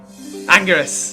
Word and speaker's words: Anguirus: Anguirus.